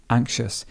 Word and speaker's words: anxious: Anxious. He's a really anxious person. And sometimes you may not even hear the k sound.